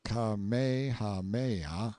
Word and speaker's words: Kamehameha: When Kamehameha, pronounced Kamehameha, the Great, who was